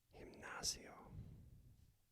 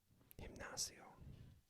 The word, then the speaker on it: gimnasio: Now we're in G, and remember that's made with kind of the H sound. Gimnasio. Gym. Gimnasio.